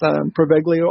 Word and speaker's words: Poveglia: And it's known as, correct me, Chris, if I'm wrong, but it's pronounced Poveglia Island.